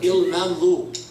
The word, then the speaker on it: ElMamlouk: Last thing about that, my last name, the one Miss Nanny, she doesn't know how to say it good, ElMamlouk.